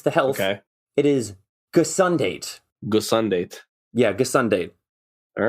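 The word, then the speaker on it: gesondheid: It is gesundheid.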